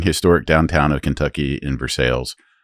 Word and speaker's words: Versailles: So, the hotel is in a charming historic downtown of Kentucky in Versailles. It's pretty should much should be pronounced Versailles, by the way. No, they actually passed a law naming it Versailles.